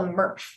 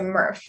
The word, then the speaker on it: MRF: And then it gets shipped to what we call a MRF. A MRF. Pronounced like Smurf, but without the S, a MRF.